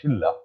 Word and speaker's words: Shilla: সেটা হচ্ছে শিলা, কথাটা আমরা শিলা বলি কিন্তু ওরা আসলে উচ্চারণটা শিল্লা।